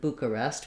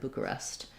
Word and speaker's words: Bucharest: an ah and then bucharest we do an e sound there bucharest um so boo ka rest first syllable stress um now this maybe